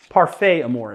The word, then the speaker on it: Parfait Amour: Parfait Amour is actually, you know, people are gonna really bust me for that pronunciation. It's Parfait Amour.